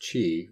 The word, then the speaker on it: Qi: I am loving the new Qi also apparently pronounced Qi wireless standard that's coming out